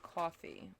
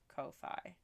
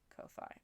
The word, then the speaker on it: Ko-fi: How is it not pronounced coffee with that logo so confusing?